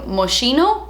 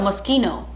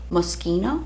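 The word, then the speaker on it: Moschino: you know recent video maschino know musky no musky no I recently bought the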